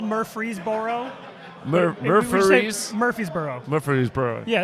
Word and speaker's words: Murfreesboro: Road in in Nashville in Murfreesboro yeah yeah it's spelled Murfreesboro Murphy's Murphysboro look for these bro yeah there you go